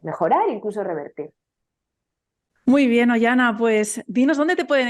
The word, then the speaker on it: Oihana: principalmente en instagram estoy como cuerpo emocional by oyana oyana mi nombre se escribe o con i latina o I latina